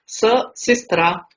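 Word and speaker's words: сестра: Next word है हमारे पास सी, जो कि रशियन लैंग्वेज में एस प्रोनाउंस होता है, स सिस्त्रा, सिस्त्रा मीन्स सिस्टर।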